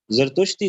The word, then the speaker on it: زرتشتی: تھے، لیکن ان کے زرتشتی کہہ رہا ہوں نا، زا را تا شین تا، زا را تا شین تا، یہی صحیح تلفظ ہے، میں نے بھی یہی